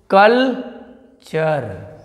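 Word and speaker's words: culture: आ तो क्या पढ़ेंगे अर पढ़ेंगे जैसे में देख लो कलचर ने चर सिग्नेचर तो क्या पढ़ रहे हैं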